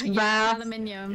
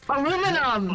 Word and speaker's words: aluminium: Aluminium. Yeah. Say it the way you, aluminium. You do, you wrong American. Aluminum!